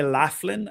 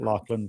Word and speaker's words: Laughlin: but you said like is it correct you're on to it yeah so Lachlan is my last name Americans would say Laughlin and some say Laughlin but I pronounce it Lachlan but anyway okay